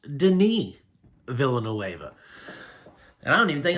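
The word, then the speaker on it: Denis Villeneuve: me try to print so I've been saying Dennis villain NOA for years and turns out it's pronounced Deni villain NOA and I don't even think I'm saying his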